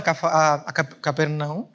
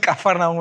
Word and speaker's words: Capernaum: Al final de ese mismo día, los discípulos cogen unos barcos y se van a Capernaum. ¿Cómo se dicen? Sí. Capernaum. Cafarnaum, es que lo he dicho en portugués.